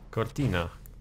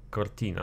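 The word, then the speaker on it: Cortina: przodu to bardzo ciekawy samochód niesamowicie ohydny pasky kortina Nie kortin kortina no ja tak czasami akcentuje po ludzku przede mą jeszcze jesten nie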